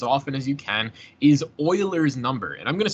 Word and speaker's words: Euler: also for the record it is pronounced Oiler not uler like e wle r again Swiss right so if you pronounce it uler f just immediate F in my class it's Oiler pronounce it Oiler again